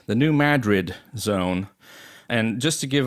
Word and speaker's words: New Madrid: Earlier, I referred to the earthquake zone in the Midwest as the New Madrid zone. Of course, that's my European background, and you pronounced it correctly, which in fact I did know. I did know how to pronounce it. It just slipped my mind.